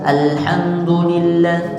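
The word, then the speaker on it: الحمد لله: a a Nah jadi kalau ada huruf lam tidak boleh dibaca pendek seperti bacaan izhar ya alham alham nah tapi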